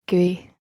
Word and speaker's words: GUI: or graphical user interfaces giz pronounced gui menu systems are popular